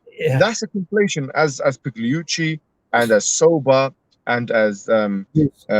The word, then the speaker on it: Pigliucci: movements that's been exposed by so many, like Pigliucci. How do you pronounce his name? Pigliucci, is it? Yeah, Pigliucci, Pigliucci, Massimo Pigliucci.